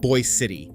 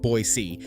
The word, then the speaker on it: Boise City: Locals call it Boy City, not Boise the way anyone would say Idaho's capital out loud.